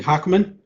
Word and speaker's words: Haakman: to connectivity issues is microsoft azure mvp wesley hackman and i know i pronounced that properly because i did some research